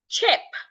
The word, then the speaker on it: chip: I have chip. Ch. The letter I there sounds a chip. In case you're here and you struggle with the C and H sound, put your teeth together and release the sound. Ch. Chip. Ch. Ep chip.